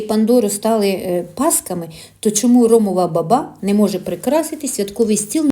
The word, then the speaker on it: ромова баба: Так, це ромова баба з наголосом на другому складі.